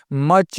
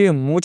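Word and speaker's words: much: मच। मूछ नहीं पढ़ना है दोस्तों।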